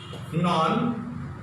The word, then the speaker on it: nonchalant: We came to know that it should be sounded here sh, nonchalant, or nonchalant. Okay, so now she was also right to pronounce chalant. So this is American sound. Americans speak in this way, nonchalant or nonchalant.